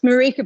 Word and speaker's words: Marika: It's Marika, by the way. Not that I mind the other pronunciations.